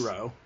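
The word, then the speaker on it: Roux: It's I'm Rowe. sorry, It'd be Rowe. It'd just be Rowe.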